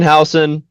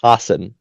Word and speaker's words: Hassan: Brendan Hson. Sorry, it's actually pronounced Hassan.